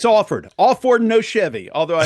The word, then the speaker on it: Alford: It's Alford.